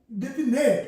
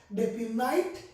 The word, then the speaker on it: definite: because spelling depends on pronunciation if you say definate if you pronounce like this automatically you'll write here here